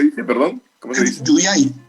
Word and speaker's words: Yuyay: Yuyay, con Y, Y-U-Y, Yuyay.